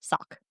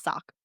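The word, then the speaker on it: Sauk: And it's spelled S A U K, but it's pronounced Sock. Interesting. Yep. I looked it up for everyone who might come at me. It is Sock.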